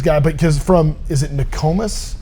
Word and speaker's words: Nokomis: Okay, so Bears guy, but because is it Nokomis? How do you say your hometown? Nokomis, yeah.